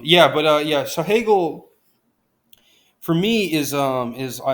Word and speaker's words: Hegel: we do uh Hegel Hegel is groundbreaking okay yeah hey girls rhymes with Bagel so that's always a